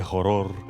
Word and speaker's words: horror: Qué horror. Qué horror. We don't pronounce the H.